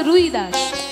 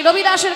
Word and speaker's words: রবিদাস: লিখেছেন তার নাম হচ্ছে রুইদাস আসলে রুইদাস তার নাম নয় বাবা বাঙালিরা করে দিয়েছে রুবিদাস বাঙালিরা বলে রুবিদাস আসলে তার নাম হচ্ছে রবিদাস রবিদাস তা দেখবেন হিন্দিতে বটা একটু উচ্চারণ হয় রবিদাস রবিদাস রবিদাস তার থেকে